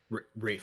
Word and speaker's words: Ralph: yeah um Ralph fines Rafe I think is how it's pronounced Rafe my apologies I honestly don't know for sure yeah I'm terrible celebrities yeah Wikipedia it's Brave which is weird because it's spelled Ralph yeah Rafe finds is like